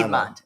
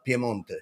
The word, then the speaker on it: Piemonte: Because they said Milano, Piedmont. No. Piemonte.